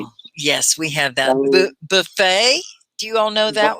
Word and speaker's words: buffet: yes we have that buffet do you all know that one okay yeah buffet buffet you don't say the t everyone it's a french word buffet buffet there and